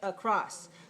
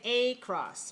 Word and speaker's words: across: name it schwa and we sound like uh when we say across but we can't say a cross because a is clear and that's not correct so uh is the unstressed sound but all is this clear vowel we can't say the chris of course that does not that is not a good pronunciation we have to say across so the ah has